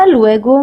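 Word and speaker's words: luego: Go is pronounced as go just like we do in English.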